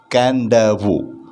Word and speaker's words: Kadavu: under the chapter ana the sacred turtles of can davo page number 91 first video please note this spelling k-a-d-a-v-u is a spelling but it's pronounced as can-davu okay written as kadavu but pronounced as canda